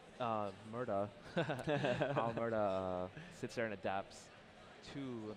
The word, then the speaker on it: WA Murda: It looks like we might have Ergi's Bunch versus WA Murder, or Murda. Sorry, it's with an A there. I gotta make sure I pronounce it correctly.